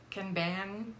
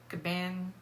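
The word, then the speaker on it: kanban: one is called the I'm not probably gonna pronounce it right but it's can ban board command board and I'm probably not pronouncing it correctly it's k-a-n-b-a-n caban board all right so that involves three different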